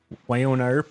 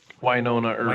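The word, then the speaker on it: Wynonna Earp: Winona Earp or whatever? Winona Earp. Winona. Yes, I sir. never know how to pronounce that because I never hear people say it out loud.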